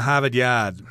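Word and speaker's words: Harvard Yard: my car in a habit yad okay that's how you say it in the boston accent there because you drop all the rs there but in any case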